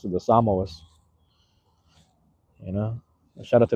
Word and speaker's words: Samoa: That's the way to pronounce it, the Samoas.